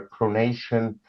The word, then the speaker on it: pronunciation: English conversation or a pronunciation. So pronunciation. pronunciation. So I need this to learn very well. But But with words that end in ation, it's always the stress is always on the a in Asian words.